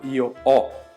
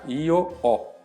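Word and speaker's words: io ho: Então, por exemplo, a palavra eh o verbo avere, né, que a gente fala io o, quer dizer, eu tenho. Você escreve com h, io o, mas esse H não é pronunciado.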